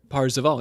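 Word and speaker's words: Perceval: between the lines here is that like the french pronunciation of percival from yeah king arthur parseval yeah percival yep yep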